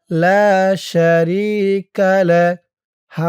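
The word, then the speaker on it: لا شريك له: এই যে চিহ্ন দিয়েছে যদি আপনি থামেন তাহলে উচ্চারণ করবেন লা শারিকালাহ থামার কারণে এই যে হার উপরে পেশটা সাকিন হয়ে গেছে ওয়াহদাহু লা শারিকালাহ লা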